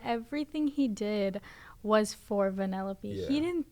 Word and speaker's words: Vanellope: well I keep on saying her name wrong because Vanellope vanilla Vanellope um I also like her